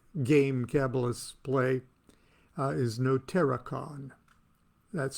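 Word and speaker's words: notariqon: the the next game kabbalists play uh is no terracon that's spelled n o t a r i q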